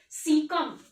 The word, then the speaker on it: caecum: पहला पार्ट है सीकम। What it is called सीकम। क्या बोल दिया? लिख लो।